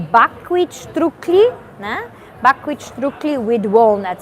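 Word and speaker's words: štruklji: is written uh uh over here on the top we have strictly s t r u k l j i and then Above This s we have an accent and that is pronounced as sh in in English yeah sometimes people say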